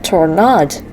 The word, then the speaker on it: Tornad: I should stress that it's pronounced the Spanish way you'd say tornado. He actually gets annoyed when people mispronounce it.